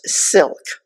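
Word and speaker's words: CILC: Our final speaker this evening is Aisa Oliverz, the managing attorney for the Community Immigration Law Center, CI LC, which is pronounced silk.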